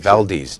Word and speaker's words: Valdez: How do you pronounce his name? sir? Valdez.